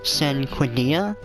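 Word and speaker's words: Cinquedea: weapons and we picked up this is actually pronounced sin Quinn dia I have some notes written down for the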